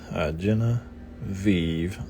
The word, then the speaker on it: Genevieve: Genevieve, the IE like this, with a consonant V, and the E at the end is not pronounced, so another silent.